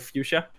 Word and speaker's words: Fuchsia: With someone called Fuchsia, like the color Fuchsia. I don't know how to pronounce it. Yeah, that's correct.